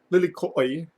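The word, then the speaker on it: lilikoʻi: Inspired by this wild beauty, Lilikoi Kea is Lilikoi. So that's how you're technically supposed to pronounce it in Hawaiian because the Okina's there at the end.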